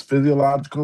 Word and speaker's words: physiological: I know the last part is logical. Is it physiological?